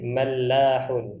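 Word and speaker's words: ملاح: tulis di sini ya itu mim kemudian lam kemudian Ha Apa bacanya kira-kira Ustaz Lukman mahun Naam tasdid ini mallahun itu nelayan mallahun nah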